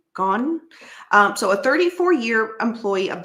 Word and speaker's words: Gaughan: It's spelled Gaughan. Gone.